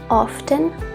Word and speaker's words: often: So we have always, usually, often, it can also be pronounced as often, sometimes, never.